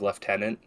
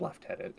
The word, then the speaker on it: lieutenant: Cavalry will forever use the uh non-american pronunciation of leftenant okay just because yeah the title is Lieutenant but everywhere else is left tenant and Campbell will not